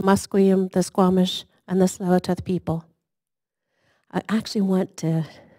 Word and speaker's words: Tsleil-Waututh: waters of the Musqueam, the Squamish, and the Tsleil-Waututh people. I actually want to teach you how to say the name of my people. Tsleil-Waututh. Tsleil-Waututh.